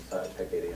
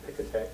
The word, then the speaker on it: Piketty: I've certainly been teaching and using Piketty as a Piketty, I don't know how you say its name. So I think it's like cockatoo. It's first strongest accent on the first syllable.